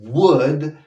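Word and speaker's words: would: viajaré mañana hay un world travel tumor de nuevo la l no se pronuncia wo del chavo tomorrow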